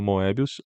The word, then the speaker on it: Moebius: Ele é abertamente influenciado pelo Moebius. Moebi, que essa é a pronúncia certa de Moebius, tá? É Moebi. Dorme com essa.